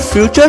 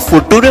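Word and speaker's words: future: नटूरे फुटूरे नटूरे क्या क्या क्या क्या है नेचर और फ्यूचर नटूरे और फुटूरे बन गया, मतलब क्या है यार मैडम साहिबा, मतलब कहाँ से मास्टर डिग्री लेके आए हो यार।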